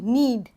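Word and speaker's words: knead: वैन इस नीड एंड नीड इसमें के साइलेंट होता है इस वर्ड में के साइलेंट नीड ये वाला नीड होता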